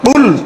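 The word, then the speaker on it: قُلْ: কুল বলেছে, তার মানে কুল চাপ দিয়ে বলতে হবে, এটা বুঝতে হবে।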